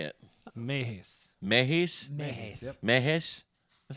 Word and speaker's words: Mehesz: your last name because you never say it Mees Mees Mees Mees that's not that bad no